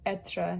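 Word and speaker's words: être: And as I said, it goes over the first e and that's why it's etra, not like ra or something.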